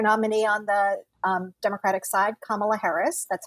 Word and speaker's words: Kamala Harris: but um future nominee on the democratic side kamala harris that's how it's pronounced for those still figuring it out california